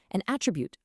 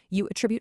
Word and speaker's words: attribute: So if you're using the word as a noun, like a physical thing, you stress the first syllable, an attribute, a record, an object. But if you use that exact same word as an action, a verb, the stress shifts over to the second syllable.